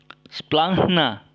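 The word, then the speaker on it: σπλάγχνα: Tapi dalam pengucapan Gama Hi itu diucapkan NGH. NGH. Huruf K-nya tidak disebutkan lagi, tidak dibunyikan gitu ya. Jadi NGH. Kita lihat splangna.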